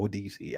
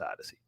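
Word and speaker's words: Odysee: And if you want to subscribe to this channel and on Odyssey as well, ODC, I like to say ODC, it separates it from Odyssey, right? Even though it's pronounced Odyssey.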